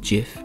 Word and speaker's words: GIF: a little too quiet it's pronounced jiff as in Jim or give as in